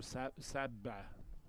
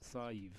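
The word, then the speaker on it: Sadhbh: If you were looking at it the way it's spelled here, you'd call her Sabba. But it's Sive, of course. Very popular Irish name for ladies.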